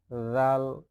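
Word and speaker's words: ذال: দাল এরপর হচ্ছে দাল জাল জিহ্বার আগা সামনের উপরে দাঁতের আগার সঙ্গে লাগাইতে হবে তাহলে উচ্চারিত যে কি জাল উপরে একটা নক্তা ভালোভাবে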